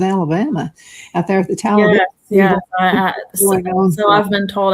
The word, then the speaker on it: Talladega: Now, when everybody's there, you can pronounce it exactly like you said, Talladega. But now the people who live there say Talladega. You know, like in the ditch. So that's how we say it down there.